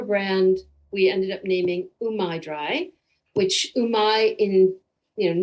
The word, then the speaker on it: Umai Dry: we ended up naming umaidri which umai in you know no connection with japan but umai in japanese means either skillful or tasty and so rhymes with dry sounds pretty good and